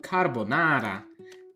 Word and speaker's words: carbonara: Am I pronouncing right? What is it? Carbonara.